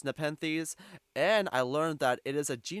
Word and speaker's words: Nepenthes: Also, prior to recording this, I did look up how to pronounce Nepenthes, and I learned that it is a genus of carnivorous plants, which I assume this is the Nepenthes in question.